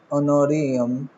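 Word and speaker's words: honorarium: ठीक है, तो हम लिख लेंगे 1 लाख पूरा, टू ऑनोरियम कितना है, 1 लाख है। इसमें इस बात का ध्यान रखना एच साइलेंट होता है, ठीक है, ओ से बोलते हैं।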